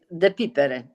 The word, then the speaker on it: Depypere: Because I don't even know how to pronounce it. Mine? Yeah. Depypere.